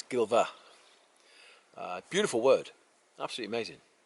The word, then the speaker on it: Gilfach: Valley here in in here at gilva it's pronounced gilva it's spelled g i l f a c h uh some people would pronounce it gilva but no it's gilva uh beautiful word absolutely amazing so yeah they